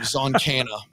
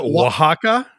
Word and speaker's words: Oaxaca: move only allowed in the Mexican province of zoncana I knew it then that's online I always